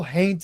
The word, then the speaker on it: haint: color that they call haint blue. Haint, of course, being the southern pronunciation of haunt, like their word for ghost.